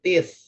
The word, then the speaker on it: teeth: Kemudian ada brush my teeth. Brush my teeth. Teeth gitu bacanya ya. Tee th.